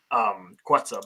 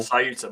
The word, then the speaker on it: Ceuta: Ceuta, my bad, I was pronouncing it wrong. Ceuta.